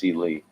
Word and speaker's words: Celi: Celi. My last name OS pronounced Celely.